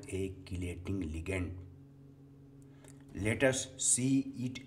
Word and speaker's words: chelating: It must be noted that its correct pronunciation is chelating ligand and not chelating ligand.